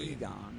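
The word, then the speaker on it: Eygon: Egon, that's how you pronounce it.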